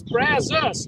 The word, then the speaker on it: Brazos: It's Brazos, like U.S. That's how they pronounce it. It ain't got no U in it.